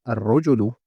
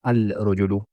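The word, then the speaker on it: الرجل: But when I said al-rajulu, I didn't pronounce that lam. I didn't say al-rajulu.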